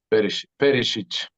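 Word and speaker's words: Perišić: would have to be, oh, Perisic, yes, yeah, great guy, great guy, great player, yes, Perisic. That's how you pronounce it.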